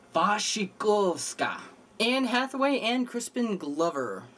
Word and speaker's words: Wasikowska: I believe the W is supposed to be a V. Wasikowska.